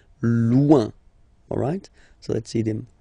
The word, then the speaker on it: loin: So remember when you get this combination O-I-N, it's ouin, ouin, ouin, okay? Loin.